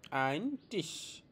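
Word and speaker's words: Ein Tisch: এটার উচ্চারণ হবে আইন টিশ।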